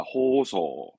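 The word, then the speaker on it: 包装: 됐으니 뒷글자는 장식의 장점이다 발음은 호소합니다 포장하다 호소 포장은 호소 포장 호소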